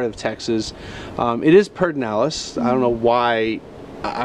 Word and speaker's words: Pedernales: from this part of texas um it is perdinellis i don't know why i don't know if you know why it's pronounced away it's just one of those things